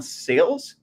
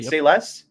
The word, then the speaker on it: Sayles: on that but John sales is it sayless sales John sales okay is an underrated writer